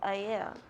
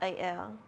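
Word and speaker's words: ʻAiea: Like the word aiea, it's aiea, not aiea.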